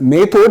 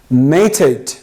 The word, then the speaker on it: method: Next one, not method, actually it's method.